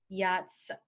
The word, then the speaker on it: yacht: a big boat usually yachts are sailed on the ocean so to remember it use the sentence let's boycott the yacht let's boycott B yacht the next one